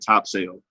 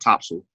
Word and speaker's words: Topsail: I said top sale. My friend from North Carolina said topsail, but I refuse to say it that way because it's spelled top sale.